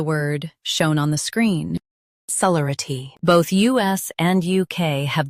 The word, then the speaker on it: celerity: Today we will learn how to pronounce the word shown on the screen, celerity. Both US and UK have the same pronunciation of this word. Stress le. Keep r soft and quick.